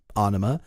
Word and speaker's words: Ænema: to their 96 album, Ænema. I say sorta because the album is spelled like, have you ever seen that character that's like an A and an E mushed together? Yeah.